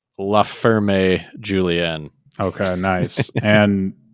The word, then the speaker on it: Ferme Julien: I think it's French, so I'm going to pronounce the vowels. La Ferme Julien.